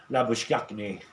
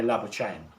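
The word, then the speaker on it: Labuschagne: we pronounce that one back in South Africa it would more than likely be laak but here in Australia they say lab chain as r on Q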